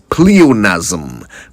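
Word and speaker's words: pleonasm: Pleonazm P L E O N A S M Ponazm. And that's how you say it, right?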